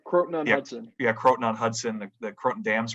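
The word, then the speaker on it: Croton-on-Hudson: Yeah, Croton on Hudson.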